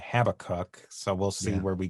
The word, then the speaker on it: Habakkuk: And I'm going to persist in calling him Habakkuk, which is the Hebrew pronunciation, because I just find it easier to say. And I might wind up saying Habakkuk, so we'll see where we go from there.